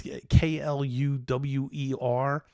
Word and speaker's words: Kluwer: I know I'm not pronouncing that right. It's Kluwer.